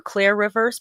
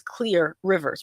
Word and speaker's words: Clear Rivers: of see I always want to call her Clare Rivers but apparently her name is actually Clear and I just thought they were mispronouncing it in the movie for some reason.